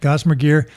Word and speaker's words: Gossamer Gear: Am I pronouncing that right? Yep, Gossamer Gear.